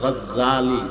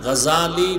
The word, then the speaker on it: গাজালি: না জাহাল নাম হলো ইমাম গাজালি বলে গাজ্জালি না গাজালি বিশুদ্ধ উচ্চারণ গাজ্জালি না আর আল্লাহ যদি কবুল